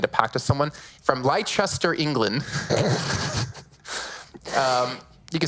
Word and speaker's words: Leicester: because I made a pact with someone, from Leicester, England. You can say it correctly. Leicester, England.